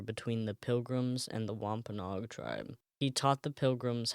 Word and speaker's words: Wampanoag: It's Wampanoag.